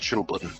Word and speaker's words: chilblain: I believe it's pronounced chilblain. Chilblain? Whatever. Chilblain. Chilblain. It could be chilblain, but I believe it's Who knows? I believe it is chilblain because blaine obviously root word isn't like more.